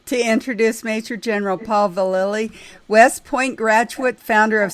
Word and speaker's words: Vallely: It's Vallely.